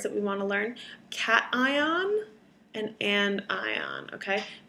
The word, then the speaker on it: cation: we want to learn cation and and ion okay make sure you protect pronounce it cat ion like the animal and n like the female you know a girl named anne okay a cation is a